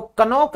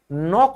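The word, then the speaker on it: knock: अगर हम कहें खटखटाना तो कनोक नहीं होता नोक होता है क्योंकि इस रूल की वजह से के साइलेंट होता है।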